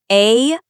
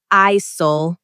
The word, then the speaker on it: aisle: Remember the silent letter. A-I-S-L-E. The L and E are silent. You say aisle. Not ISOL, just aisle.